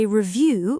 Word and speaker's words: review: For example, I review my vocabulary every evening. We reviewed last week's lesson before learning something new. Review. The stress is on the second part.